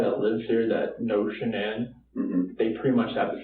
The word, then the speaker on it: Shanann: And I don't want to pronounce her name wrong. Shanann. Shanann?